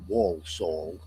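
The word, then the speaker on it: Walsall: It's pronounced Wolaw.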